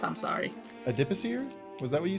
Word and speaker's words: adipocere: It's pronounced adipocere.